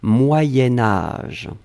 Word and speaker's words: moyen âge: petit modification de prononciation on va dire moyenne moyen-âge d'un c'est pour ça que vous avez peut-être entendu moyenne mais en fait on écrit moyen moyen âge va être prononcée moyen-âge d'accord allez ce troisième